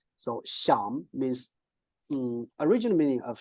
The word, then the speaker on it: 想: So actually we borrowed the pronunciation of the top one, but we changed its turn, right?